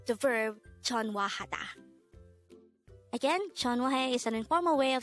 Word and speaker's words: 전화해: tense form of the verb chon wahada again chon wahe is an informal way of saying call me